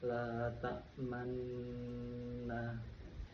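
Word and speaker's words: لَا تَأْمَنَّا: Ismam yaitu memonyongkan kedua bibir tanpa mengeluarkan suara pada lafaz la takmanna. Itu termasuk bacaan ismam. Jadi membacanya la takmanna.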